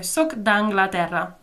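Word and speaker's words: sóc d'Anglaterra: Sock d'Anglaterra? Yeah, exactly. You just combine those sounds, the E and the A for Anglaterra, so soc d'Anglaterra.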